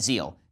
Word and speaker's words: Zeel: First, I want to say thank you to our sponsors over at Zeal.